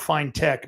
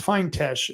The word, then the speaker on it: Feintesh: But this woman here, Sonia Feintesh, it looks like it's spelled Fine-Tech, but it's Feintesh is from what I understand.